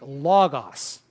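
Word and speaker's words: λόγος: you a simple example like logos logos logos likes the accent on the second to the last position and as this word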